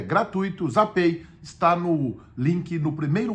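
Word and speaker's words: Zapay: baixa o aplicativo gratuitamente da zapi se escreve HP a y mas é zapei que se pronuncia e ali vai enxergar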